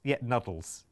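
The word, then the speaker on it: Nudls: It's spelt N-U-D-L-S. And it's, Nuddles.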